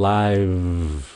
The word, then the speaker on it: live: các bạn live live Các bạn thấy chữ v đứng phía sau không live sau cái âm I cái môi của các bạn phải nhảy vô cái vị trí phát âm V liền live live vậ thô